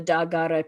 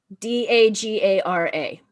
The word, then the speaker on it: Dagara: um the west african um tradition of the dagara people in burkina faso um the the pardon